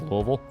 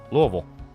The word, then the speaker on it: Louisville: It's pronounced Louisville. Yeah, Louisville.